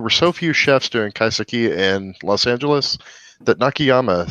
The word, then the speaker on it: kaiseki: In 2011, she opened up En Naka, dedicated to the culinary art of, forgive me on Kaiseki. pronunciation, kaiseki?